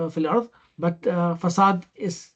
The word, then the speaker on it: facade: Not the facade fil ard, but facade is how do you spell it?